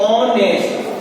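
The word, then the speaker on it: honest: In this spelling H is silent, the pronunciation is ऑनेस्ट, इसका pronunciation होता है ऑनेस्ट, ऑनेस्ट नहीं पढ़ती है, ऑनेस्ट, इसलिए एच साइलेंट हो गया तो ओ आ गया ऑनेस्ट। अब ओ क्या है हमारा,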